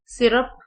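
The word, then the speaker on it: syrup: Commonly mispronounce words जिनको अक्सर गलत पढ़ा जाता है: begin, begin, timid, guitar, minute, सिरप, वाई की जगह आई साउंड आएगी, सिरप.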